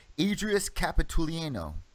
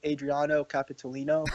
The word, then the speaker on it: Adriano Capitolino: against the undefeated, and correct me if I'm pronouncing this wrong, Adrius Capitolino. Yeah, I believe it's Adriano Capitolino.